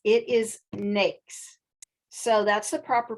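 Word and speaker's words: NAICS: next codes and pse codes so it is pronounced snakes it's not nice it's not nike it's it is nakes so that's the proper pronunciation for that and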